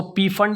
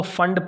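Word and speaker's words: Pfund: नाम है फंड series यह पीस जो है यह साइलेंट है ठीक है तो इसको पी फंड नहीं पढेंगे इसको फंड पढेंगे लाइंस बाद मरीज पार्संस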